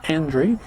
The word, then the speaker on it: Andre: I would say Andre, but I've listened to him pronounce his name, and he pronounces it Andre.